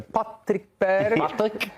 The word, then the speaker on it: Patrick Berg: Patrick Berg.